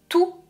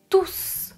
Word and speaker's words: tous: souvenir de cette règle quand il y a un nom c'est non je ne prononce pas le s par exemple tous les